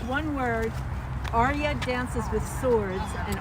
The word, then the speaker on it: Arya: Arya dances with swords, and Arya is spelled from Game of Thrones.